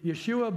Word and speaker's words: Yeshua: his son Yeshua Yeshua if he said his name in Hebrew it would really be Yeshua Ben yehovah Jesus Son